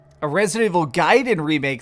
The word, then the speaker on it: Gaiden: a second here but resident evil gaiden which apparently somebody told me that's how you're supposed to pronounce it this game was actually